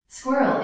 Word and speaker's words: squirrel: could be included but squirrel is intended to be pronounced as two syllables squirrel according to most